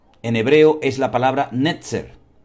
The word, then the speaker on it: Netzer: Ahora, analizando el texto en hebreo, la palabra vástago en hebreo es la palabra netzer. Netzer.